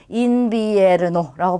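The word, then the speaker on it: invierno: 자, 첫 번째 단어는 인비에르노라고 합니다. 자, 가운데에 있는 이와 첫 번째 있는 이 둘 다 이로 발음하면 돼요. 그러면 인비에르노라고 발음이 되죠.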